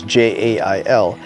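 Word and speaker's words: gaol: Back then, it was G-A-O-L, jail. So when you see the plaque that says, "Here once stood the old Salem Witch Jail," and it's spelled Gale or Gal or whatever the hell it is, it still says jail, and that's the way they pronounced it back then, but spelled 100% differently.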